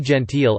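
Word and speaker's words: gentille: Doubling a final l and adding a silent e, e.g., gentil gentile, adds a sound if the l is preceded by the letter I.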